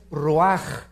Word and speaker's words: ruach: j nepe y la palabra espíritu es ruaj se escribe ruach entonces vemos aquí dos